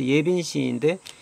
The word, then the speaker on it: 예빈시: 그때 여기 사라고 읽지 않습니다. 시로 읽습니다.